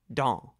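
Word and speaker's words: dans: spelled D A NS remember not to pronounce the last letter s or in this case the next to the last letter n and speak the word through your nose do you remember La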